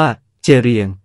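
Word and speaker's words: ជ្រៀង: อีก แบบ หนึ่ง คือ อักษร เชียง ออก เสียง ว่า เจรียง คือ อักษร ที่ สร้าง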